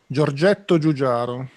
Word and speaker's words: Giorgetto Giugiaro: Gigi, give us the proper Give it pronunciation. a go. Giorgetto Giugiaro.